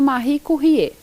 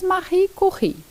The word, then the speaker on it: Marie Curie: Então eu trouxe para você Marie Curie. Talvez você ouça falar dela como Marie Curie, mas a pronúncia correta é em francês Marie Curie.